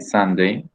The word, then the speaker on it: Sunday: Then on Sunday, okay, la U a veces se pronuncia como A, okay, Sunday.